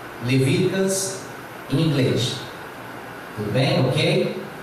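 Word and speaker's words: Leviticus: O terceiro livro da Bíblia, Levíticos, se pronuncia Levíticas, Levíticas em inglês.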